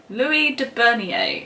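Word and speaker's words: Louis de Bernières: by and i've asked my brother how to pronounce this name so many times and every time i forget so it's louis de bernier who you might know is the author of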